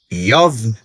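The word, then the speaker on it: איוב: O nome Jó, que em hebraico pronuncia Yov, pode significar aquele que é odiado ou aquele que é perseguido.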